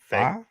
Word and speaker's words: Fahy: Debicki, The Crown; Megan Faye. Fahy, Faye. Faye. How is that Faye? Well, I mean, I guess the H is silent. Sabrina Impacciator.